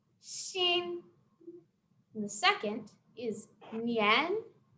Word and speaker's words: nian: And the second is nian. That tone goes up, like we're asking a question, like that line on the screen.